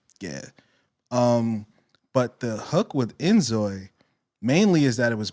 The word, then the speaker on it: inZOI: INZOI? INZOI. Yeah. Okay. So I think it's like a play on like enjoy.